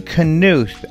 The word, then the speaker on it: Knuth: I am very happy to welcome for the first time to the show Knuth. And am I saying that correctly? Yes, that's correct. It's the Scandinavian pronunciation, so that's right.